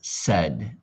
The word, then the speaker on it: said: Now, this one right here, this is confusing because in American English we pronounce it said.